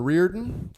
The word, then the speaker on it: Riordan: You can't have the first name Ashlyn and not be able My to say name is Riordan.